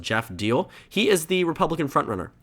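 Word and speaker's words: Geoff Diehl: Taking a look at the Republican primary here, I believe his name is pronounced Jeff Deal.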